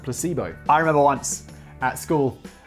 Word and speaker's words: Placebo: uniform to school and asked him what's place beau and he was like it's placebo and then he told everyone that i pronounced it place both and it was uh